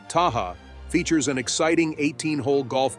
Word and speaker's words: Tehama: Tehama, pronounced Taha, features an exciting 18-hole golf course and an elegant 18,000-square-foot Spanish-style clubhouse.